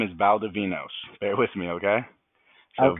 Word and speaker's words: Valdovinos: So, of course, and then my last name is Valdovinos.